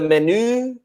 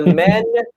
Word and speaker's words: menu: So remember, in English, it's not the menu, like en français, but the menu.